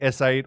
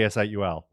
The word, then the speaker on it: S8UL: So they're like, it's okay if they say S8 or Soul, but we want them to say S8UL.